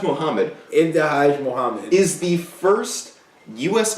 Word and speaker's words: Ibtihaj: it my man so uh how do you pronounce that young lady's name ifaj Muhammad ifaj mhamed is the first US Olympian to compete